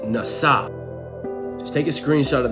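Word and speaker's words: נשא: The Hebrew word for forgive, which is pronounced nasa.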